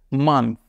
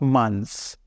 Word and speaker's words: month: They say it's se or te, but it's th or the. Month. It's not months.